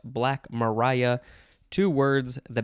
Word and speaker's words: Black Maria: don't know june 29th the first word is black mariah it it looks like it's black maria but it is pronounced black mariah two words the b and the m are